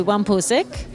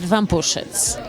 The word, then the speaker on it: Wampuszyc: No, Americans tend to say Wampuszyc, and in Polish you pronounce it Wampuszyc.